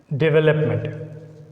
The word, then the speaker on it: development: So when a word begins with the suffix DE, it takes stress on second syllable V.